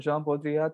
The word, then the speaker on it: Jean Baudrillard: And simulacra and simulation, and Jean Baudrillard talks about, and yes, that is how you say his name.